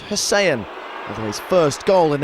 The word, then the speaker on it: Hysén: In Sweden, they pronounce it Tobias Hysén, although his first goal in English football looked good in any language.